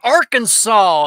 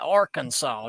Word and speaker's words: Arkansas: zero funds but yeah Arkansas is how you say that Arkansas not AR Kansas or Ark Kansas Arkansas Kansas Tech what